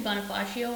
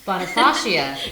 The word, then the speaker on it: Bonifacia: So it's a little bit tricky to pronounce. It's actually Bonifacia Wines. Bonifacia.